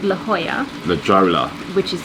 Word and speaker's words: La Jolla: We are going to a place called La Jolla. La Jolla. Which is spelled La Jolla. Yeah, I think so. Or La Jolla. But pronounced La Jolla.